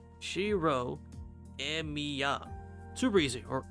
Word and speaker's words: Shirou Emiya: 違うぞ。今の発音だとエミヤシロじゃないか。エミヤが名字で、シローが名前なんだ。言いにくかったらシローってだけ覚えてくれ。 Shirou Emiya. Super easy. Or Emiya Shirou.